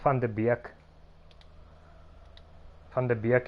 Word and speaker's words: Van de Beek: And I know this also because, like, Van de Beek is also always pronounced wrong.